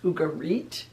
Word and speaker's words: Ugarit: beginning in 1929 in a place called ugarit or sometimes pronounced ugarit in syria northern syria